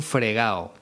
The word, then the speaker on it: fregado: expresión meterse en un fregao en realidad sería meterse en un fregado pero en esta expresión nunca pronunciamos la d porque es muy coloquial muy informal en primer lugar debes